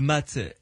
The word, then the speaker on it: mat: D'abord, c'est la carte qui s'appelle le mât ou le mat, M-A-T, hein, ça s'écrit.